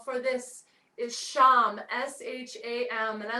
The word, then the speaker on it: sham: the chin out along the jawline the seed syllable for this is sham s-h-a-m and i like to hold my hands